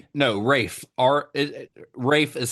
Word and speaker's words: Ralph: But that is that is like Rafe is the old English pronunciation of the name that later turned into the pronunciation of Ralph.